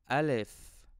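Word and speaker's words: ا: Alif. I pronounce this letter as an A sound, and you can find it in the word Ahmad.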